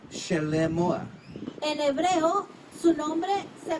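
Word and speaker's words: שְׁלֹמֹה: In Hebrew, his name is pronounced Shelemoah.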